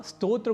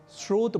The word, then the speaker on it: स्तोत्र: दूसरा शब्द है श्रोत यहां स्तोत्र को सामान्य रूप से स्रोत बोलना अथवा लिखना अशुद्ध है क्योंकि स्तोत्र और श्रोत